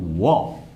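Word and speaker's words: を: Ini cara bacanya wo. Ya.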